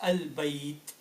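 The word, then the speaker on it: البيت: As a result, this would be read as al-bayt, al-bayt. So you pronounce lam very clearly.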